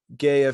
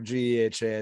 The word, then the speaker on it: GEHA: so after that um gaia field at arrowhead stadium or geha i think is a proper way to say that is uh 76 416